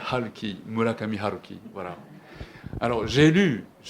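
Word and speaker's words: 村上春樹: connaissez sans doute euh peut-être on prononce aruki Murakami en français mais en japonais il s'appelle Halki mulakamki voilà alors j'ai lu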